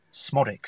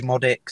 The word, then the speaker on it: Szmodics: Zed does Panic people it's just it's just smodic it's quite simple when you actually know how to say it a lot of people say modic and I think like